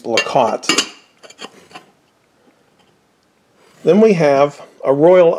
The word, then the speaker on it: Lecot: up the pronunciation for lacotte before i started the video there were two of them lacot and laquette um i'm going to use lakot then we have a